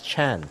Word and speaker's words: Tran: in the chat says Tran is Chan yes indeed yep yep Vietnamese written out TR